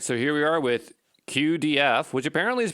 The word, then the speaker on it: cuDF: So, here we are with QDF, which apparently is pronounced CODF, but um I'm not going to do that.